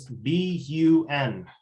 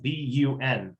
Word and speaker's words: BUN: can look at is b-u-n now guys i'm going to give you a heads up here i get in trouble for this one it's supposed to be pronounced b-u-n and apparently i've been